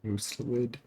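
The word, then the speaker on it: Mustelid: That's how you say it, Mustalid.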